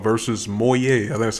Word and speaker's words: Moyai: the mob we got now is called versus moyet and that's how you pronounce it so since meet moyer boyfriend is